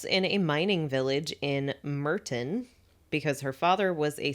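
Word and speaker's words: Murton: A coal mine was really like it's like Merton colliery is how it's said, but I had never heard that word before.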